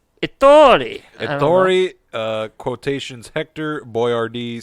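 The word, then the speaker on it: Boiardi: Ettore, quotations Hector Boyardee, spelled totally different from the canned ravioli. Well, yeah, we had to Americanize it, like Boy-R-D. Yeah, we literally spelled it Boyard and E-E, and his name is spelled B-O-I-A-R-D-I. Boyardi.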